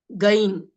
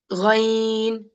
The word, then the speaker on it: غ: But in Arabic, we cannot, there's not a good pronunciation in English for that. So the real pronunciation of like this, Ghain. This is also a heavy letter. The ghain is also a heavy letter. It is like the water gargling inside your mouth.